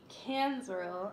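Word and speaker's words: Cansrel: she's she's decent you know about it um cans rule that's how you say his name her father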